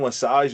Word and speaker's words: LeSage: Love the pronunciation. A lot of people butcher it the first or second times around, so you nailed the French pronunciation there, so appreciate that.